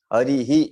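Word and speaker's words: हरिः: ऐसा बोला जाता है, हरि ही ऐसा बोला जाता है। केवल हरि कहा तो लौकिक भाषा का हो गया, हरि ही आप समझ गए होंगे। तो ये ह की लाइन के जैसा उच्चारण होगा विसर्ग का।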